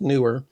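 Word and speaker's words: Neewer: And by the way, it is pronounced newer. I checked with them, confirmed it. It's not newer, it is newer.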